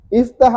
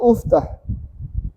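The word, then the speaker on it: افتح: Iftah atau Uftah? U. U. Salah. U. Kalau huruf ketiganya U juga. Berarti gak mungkin M U tinggal satu pilihan iftah.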